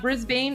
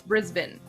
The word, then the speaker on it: Brisbane: Tommy, it's not Brisbane, it's Brisbane.